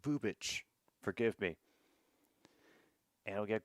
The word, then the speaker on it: Bubic: They're listing him at seven innings of work, and yep, Chris Bubik is coming in. He's on working on 3 days of rest. Oh, it's pronounced Bubic.